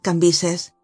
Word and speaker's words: Cambis: se pronunciaba Levi y cambis que se pronunciaba cambises aquellas caras antiguas y